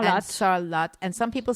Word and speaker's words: Sarlat: No, it's salot. That's salot and some people say salah and so but it's we say salat and it's an exception to the rule about pronouncing things in French and it's one of